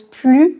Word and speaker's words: plus: pour notre fantastique leçon tout d'abord on le prononce plus dans une phrase négative par exemple elle ne veut plus travailler ce n'est plus possible je ne suis pas d'accord moi non plus ici toutes ces phrases